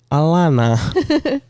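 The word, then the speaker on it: Allenah: just Vampire Diaries yeah it's not spelled like that though a yeah ah a l l e n a h oh yeah very alen alen yeah Alana everyone gets her name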